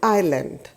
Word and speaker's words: island: Now, an island. Now, what is the spelling of the island written here? I-S-L-A-N-D. In this spelling, S silent होता है तो हम इसको कैसे pronounce करते हैं? Island.